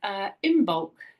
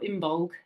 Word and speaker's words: Imbolc: And we've just had Imbolc, or Imbolg as it's pronounced, I believe.